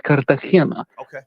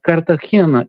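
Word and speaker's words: Cartagena: The last name uh like the basketball player Andre Miller, the correct pronunciation is Müller. You understand? So obviously Americans will Americanize the last name. However, it's Kartahena. Kartahena is a city in southeastern Spain.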